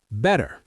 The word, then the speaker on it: better: Better. Better sounds like better. The T becomes soft like a D sound.